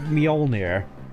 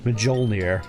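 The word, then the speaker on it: Mjolnir: Like for example, instead of Molir, the armor is pronounced Molnir, which granted is probably how I would have pronounced it did as a kid, but it's Molir.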